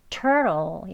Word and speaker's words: turtle: 여기 T 밑에 체크 표시 있습니다. 요거는 flap T예요. 트 소리를 이제 약하게 모음 사이에 있는 T 발음을 트 하지 않고요. 좀 약간 부드러운 리을 소리 나게 발음하는 원어민들의 발음입니다. 여기가 하는 R 동반 모음이죠. 그리고 트 하는 뒤에도 이 약한 슈아 발음 아주 거의 나진 않지만요. 이 슈아 발음 모음 소리가 있기 때문에 얘를 하고 부드럽게 발음해 줘야 합니다. 그래서 turtle 이렇게 발음합니다.